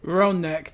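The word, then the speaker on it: Ranneck: Ron neck. That's what they're That's how they're pronounced.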